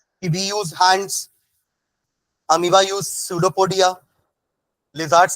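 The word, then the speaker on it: pseudopodia: with the help of सूडो पडिया spelling dough पडिया प silent सूडो पडिया in amoeba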